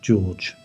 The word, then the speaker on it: Jorge: Jorge, pronounced George.